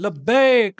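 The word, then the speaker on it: لبيك: अल्लाह हु्मा लबक ऐ अल्लाह मैं हाजिर हूं लब्बक लबक ऐ अल्लाह मैं आ चुका मैं आ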